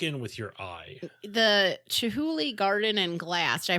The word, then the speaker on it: Chihuly: The Chihuly Garden and Glass. Did I pronounce that right?